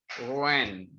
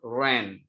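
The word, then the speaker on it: Wren: Jadi ada seorang ahli manajemen namanya Daniel Rand. W-R-E-N, Daniel Rand.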